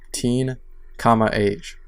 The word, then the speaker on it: Teen, Age: Coming up first, 17's second full album, Teen, Age. Teenage. Teen, age. That's how you're supposed to pronounce it.